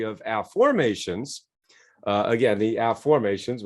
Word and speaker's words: afformations: afformations uh again the afformations which is spelled like a like this a-f-f-o-r ab formations not affirmations so what's fascinating about